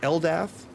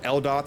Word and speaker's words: Eldath: introduced into the campaign, which is Eldath, or Eldoth, however you want to pronounce it, Eldath, who is a lawful good goddess of peace, and Hor, which I did not name.